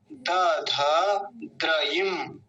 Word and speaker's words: दधद्रयिम: एक बार फिर से देखिए, दध, पहले इतना बोलेंगे दध द्रयिम, द्रयिम ऐसा। आप ऐसा बोलेंगे तो आसान हो जाएगा उच्चारण, नहीं तो बड़ी अशुद्धि होती है उच्चारण करने में।